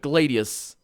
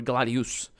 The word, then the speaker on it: Gladius: in Latin anyway but Gladius actually or glad use glad huge depending on how you want to pronounce it that would be